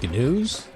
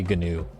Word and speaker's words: GNU: I think it's new. I just say GNU I'll take that. because software. We just had to tack a silent G onto the front of that word because